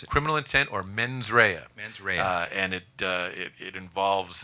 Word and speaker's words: mens rea: criminal intent, and these are people of This mens rea. How do you pronounce it? criminal intent, or mens rea.